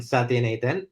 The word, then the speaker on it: Sathianathan: for having me uh my name is satin Ethan um I'm excited to be on the show